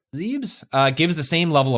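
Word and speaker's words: Zebes: tank and lost in I always forget how to say this zebis is that how you say it is I believe it's zebs zebs uh gives the same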